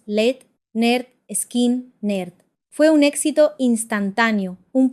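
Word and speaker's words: Lynyrd Skynyrd: Poco después de firmar, lanzaron su álbum de debut, Pronounced Led, Nerd, Skin, Nerd.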